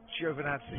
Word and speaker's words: Giovinazzi: between Crofty and Simon Lazenby on how to pronounce Antonio Giovinazzi's name. Are you Italian? I've asked him. It's Antonio Giovinazzi.